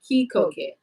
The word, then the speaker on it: Kikoket: He said my name is pronounced Kikoket.